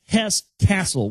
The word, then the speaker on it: Hesse-Kassel: So it's not castle as in like a royal castle. It's Hesse Castle with a K, K-A-S-S-E-L.